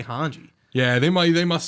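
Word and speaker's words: Hange: know what was funny my friend thought hanji like I I guess he thought her name was Hans in like the sub because I might say it differently I'm like no it's hanji like yeah say hanji yeah they might they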